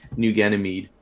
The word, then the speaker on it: New Ganymede: do you say that it's an a new ganymede new ganymede okay new enemy is there